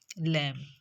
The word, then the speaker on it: lamb: So it look at these words, how it produce different sounds, like lamp, lamb. In this, b is silent.